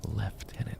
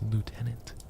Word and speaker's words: lieutenant: What do you mean left tenant? It's lieutenant like L I E AU. What do you mean left? There's no F. There is no F in there.